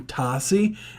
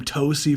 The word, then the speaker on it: Tossi: the live stream that goes by name Tossi, and I was calling him Tosi for like literal months until one day dude like pointed it out, and like months later, knowingly that I've been pronouncing dude's name wrong for months, and I'm just like,